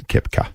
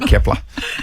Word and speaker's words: Kepka: Just to jump in, that's Kepka. Okay, cool. Not Kepler. We're not talking Kepler Bradley. We're not talking Kepler potatoes.